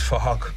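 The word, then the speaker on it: Phuc: His name is Fahok, but it's spelled with a PH, so it sounds like Fahok.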